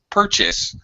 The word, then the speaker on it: purchase: word in English because most two syllable verbs the syllable stress will be on the second syllable but purchase I want to purchase purchase uh it's kind of first syllable stress so that's a tricky